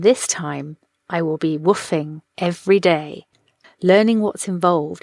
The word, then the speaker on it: WWOOFing: Now, woofing, for those people that haven't listened to Ursula's